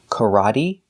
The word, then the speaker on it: karate: They all end with an E that makes the same sound, the long E sound, like green beans. Recipe, coyote, sesame, adobe, karate, apostrophe, catastrophe, and acne.